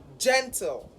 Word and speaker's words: gentle: And because it is a 2-syllable word and an adjective, therefore the stress would be on the first syllable.